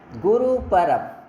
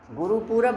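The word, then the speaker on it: Gurpurab: Next देखिए, गुरु परब। गुरु पूरब भी पढ़ देते हैं लोग इसे, है ना, बट वो सेंस नहीं करता, बस यूज स्पेलिंग है, लेकिन आपको पढ़ना चाहिए गुरु परब।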